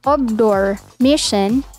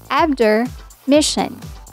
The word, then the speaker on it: Obdormition: Instead of Obdormition, pronounce this as Abdormission.